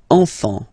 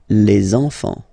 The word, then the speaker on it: enfants: Same pronunciation here. Enfant. Don't pronounce the T, you don't pronounce the S.